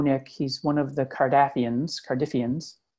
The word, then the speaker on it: Cardiffians: He's one of the Cardiffians, to rhyme with ruffian, of course.